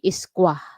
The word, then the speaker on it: Esquire: Actually, ang basa niya ng ang correct pronunciation niya ng Google ay Isqua. Isqua, parang walang R.